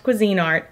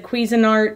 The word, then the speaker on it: Cuisinart: my cuisine art yes I know it's pronounced cuisine art I've said Cuisinart forever and it's just it's